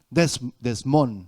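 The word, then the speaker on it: δεσμός: término griego desmont desmont así con acento en la última obra en la o desmón dice que además quiere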